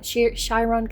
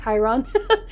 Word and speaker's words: Chiron: It makes me think of, you know, the wounded healer, Chyon. Shyron, Chiron. I pronounce it either or way but like when normal